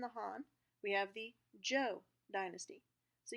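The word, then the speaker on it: Zhou: the joe dynasty so you may note that the way that we would spell these verses pronounce them in terms of the english language is a little bit different okay so the joe dynasty is spelled z-h-o-u and they ruled from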